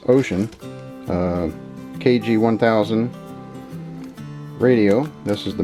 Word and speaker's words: Wouxun: It's a Wouxun. I think it's actually pronounced Ocean.